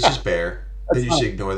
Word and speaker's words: Bexar: I mean, it sounds like it's dangerous just because it's got bears in it. Well, it's But it's spelled Bexar. oh, is that how you? That's San Antonio. Yeah, it's I've Bear.